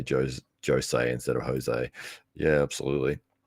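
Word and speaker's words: José: Jose Aldo is because he himself says no my name is actually pronounced Jose Jose Aldo even though normally you would say Jose Aldo H tople says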